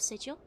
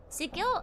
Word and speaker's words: Sigil: It's pronounced with a hard G.